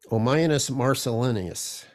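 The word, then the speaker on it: Ammianus Marcellinus: There's an ancient writer named, pronounce his name, Omianus, Omianus Marcellinus.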